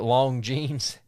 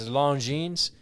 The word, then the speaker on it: Longines: A lot of people may mispronounce it Longines. It's Longines. Longines has been really putting out some nice stuff.